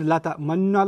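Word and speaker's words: لَا تَأْمَنَّا: This is, I squeeze my lips as I said, لَا تَأْمَنَّ like that, because that's the pronunciation rule in Hafs.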